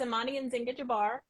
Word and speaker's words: Amani-Nzinga: So can you pronounce it for us? Yes, it's Amani-Nzinga, but most people just call me Amani.